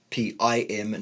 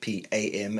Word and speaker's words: Pim: You just search for Pim Johnson, and it's Pim, not Pam, and it's not Johnson. And God, Pimjannsson.